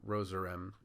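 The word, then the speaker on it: Rozerem: produces sleep remeltion or rosarem and you can see the rem like rem cycle at the very end of that or rose rhymes with does that's another easy way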